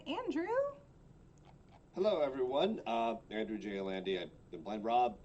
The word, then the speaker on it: Andy: hello everyone uh Andrew J Andy been blind Rob pronounce him you can follow me at Andrew Jandy that's Andrew the letter J and my last name a n d y That's for Instagram and